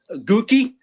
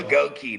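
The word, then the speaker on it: Goedeke: Gookie, dude. That's a up name. Goi. There you go. Goki.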